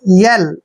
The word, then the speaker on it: yell: देखिए YE का उच्चारण हम य और ए की मात्रा करेंगे और डबल एल को हम ले पढ़ेंगे, यल।